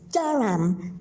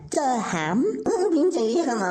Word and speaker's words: Durham: Saying it wrong. It's Durham, not Durham.